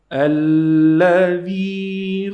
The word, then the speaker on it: الذي: الذي خلق الذي الذي الذي ال. We're gonna pronounce lam 2 times because we have shadda here.